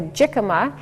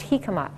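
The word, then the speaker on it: jícama: I know it looks like a jicama, but it's actually a Spanish name, and it's pronounced jicama.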